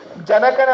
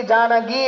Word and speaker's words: ಜಾನಕಿ: ಜನಕನ ಮಗಳು ಜಾನಕಿ ಹೊರತಾಗಿ ಜಾನಗಿ ಅಲ್ಲ.